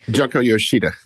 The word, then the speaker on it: Junko Yoshida: And quoting from this uh Junko I know I'm pronouncing that wrong. I'm so sorry. Junko Yoshida.